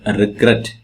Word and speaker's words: regret: So here also regret, regretted, regret, regret. So stress comes in the last syllable.